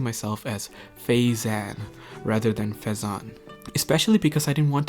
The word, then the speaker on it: Faizan: My real name is Phaethon, and apparently people found it difficult to pronounce.